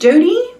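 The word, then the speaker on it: Doughty: I think her last name is pronounced Doody. I love her.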